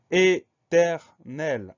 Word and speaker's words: éternel: Donc, E accent aigu, T, E, R, N, éternel, on entend toutes les lettres.